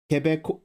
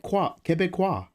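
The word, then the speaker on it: Québécois: it on the cassette quebeco quebecois it's Quebec quebecois you got this oh thank you quebecois Quebec Quebec quebecois it's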